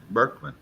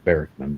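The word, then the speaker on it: Bariekman: name is barrackman b-a-r-i-e-k-m-a-n okay berkman not right it's i don't expect anybody to know my last name but it's hard to pronounce but it's barrisman but you're pretty close it's a heart that's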